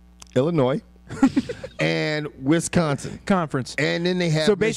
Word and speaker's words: Illinois: State conference Illinois conference don't pronounce the S Illinois and Wisconsin Conference and